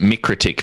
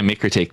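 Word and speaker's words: MikroTik: pronounce it wait wait we pronounce it micro tick because it's mik but ah okay i could see yeah we we say micro tech but okay yeah we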